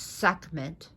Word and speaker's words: Sekhmet: Originally, her name would have been pronounced Sekhmet, because the ancient Egyptian language was very guttural. Sekhmet. She's also pronounced Sekhmet, as well as Sekhmet, and it's just pronounced Sekhmet.